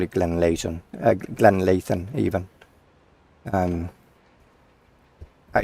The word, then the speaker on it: Glenleathann: is Glenn Glenn Leighton you pronounce the T after the H so it's Glenn Layton or if you're or the the other alternative is Glenn Levin but those who are